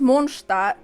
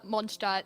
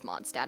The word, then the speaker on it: Mondstadt: give it a recap yeah okay yeah it's pronounced monsta i mean ella can give like the best pronunciation because it's pronounced uh monsta since that's just the proper german way to